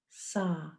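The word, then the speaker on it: sah: on the exhale the mantra is sa s a h saw hum on the inhale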